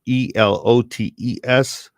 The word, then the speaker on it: elotes: with diallotes and so that's a new term it's spelled e-l-o-t-e-s for the greater uh listening audience elotes yes